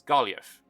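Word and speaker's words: Gaillimh: Irish-controlled and Irish-majority culture, the name would more accurately be pronounced as Galliaf.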